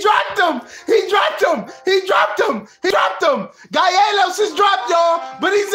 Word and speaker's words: Calleros: The L's make a Y and you got to roll the R. It's Calleros.